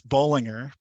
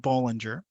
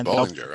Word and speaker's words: Bollinger: It's Bollinger. It's not Bollinger. So it's Bollinger.